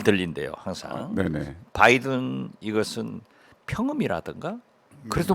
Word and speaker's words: 바이든: 수 있는 거 말씀드리면요 비읍 발음은 파열음이에요 그래서 바이든 할 때는 입술이 붙어 가지고 떼어집니다 처음에 부탁 바이든 날리면은요 입술이 안 붙어요 처음에 날리면 그죠 바이든은 바 바 입술이 붙었다가 떨어지는 거예요 그래서 그게 잘 들려요